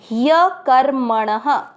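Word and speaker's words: ह्यकर्मणः: है, ह आधा है, तो इसको पढ़ेंगे य। फिर क, म के ऊपर आधा रह कर, क के साथ कर और म और ण दोनों में अमिक्स करेंगे मण। ण में अ की मात्रा तो विसर्ग को पढ़ेंगे ह। ह्य कर्मणः। दूसरा चरण फिर से कर्मजायो ह्य कर्मणः।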